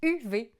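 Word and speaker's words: Uwe: oui c'est ça u UV Rosenberg c'est un auteur de jeux ça se prononce UV il a fait des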